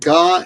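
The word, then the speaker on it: 蛾: Yeah, I've always been interested in the fact that "ga" is just one syllable.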